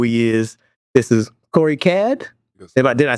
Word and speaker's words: Caad: If you don't already know who he is, this is Corey Caad.